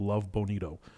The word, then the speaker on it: Love Bonito: there so Rachel is the Singaporean co-founder of Love Bonito did I pronounce it correctly exactly right okay love Bonito